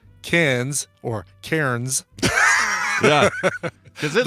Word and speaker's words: Cairns: Take it as an Aussie, Cairns. That's how you pronounce it.